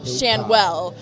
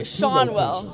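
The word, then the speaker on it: Schanuel: has always said that our last name is pronounced Shanwell. It is actually Shonwell.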